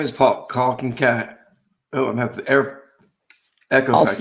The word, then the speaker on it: Kankowski: And Paul, it's Kankowski, right? Did I say it right? Yep, you said it right.